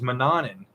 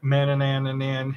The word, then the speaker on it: Mannanen: And originally my craft name was Mannanen, but nobody could pronounce it. Everybody would go like Mannanan.